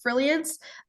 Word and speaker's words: Frilliance: And then my website and other pages is Frilliance. It's spelt like brilliance, but with an F.